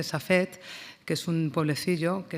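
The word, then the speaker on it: Safed: En castellano se dice Safet, que es un pueblecillo que está al norte del actual territorio del Estado de Israel.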